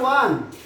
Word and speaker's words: one: Okay, the word one begins with vowel letter O. It's pronounced like wa, so A is used before it.